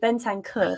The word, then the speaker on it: Bentancur: the weekend as well, obviously Bentang, I'll say his name so bad, but Bentancur, there we go.